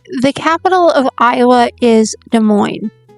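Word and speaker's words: Des Moines: So, the capital of Iowa is De Moine. Don't pronounce it the way it looks. Design. Trust me, it's de mo.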